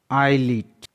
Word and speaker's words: islet: Example, ISLET, आईलीट, यहाँ पर S के बाद में L है इसलिए S साइलेंट है।